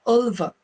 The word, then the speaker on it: Ulva: to pronounce it correctly, because it is a Swedish name and it's pronounced Ulva.